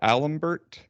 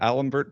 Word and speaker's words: d'Alembert: do feel bad but the alembert the Allen Bert principle and I was entirely unclear on what that was yeah so I think it's pronounced Dallin bear I was close and uh yeah you